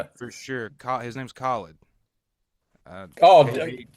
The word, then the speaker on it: Khalid: pronounced Khalid but But he he released a record called Free Spirit in 2020 that was just phenomenal.